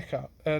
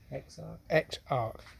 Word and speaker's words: Exarch: Not even the Echarch. Not even the Echarch. No. Echarch. How do you say it? Exarch.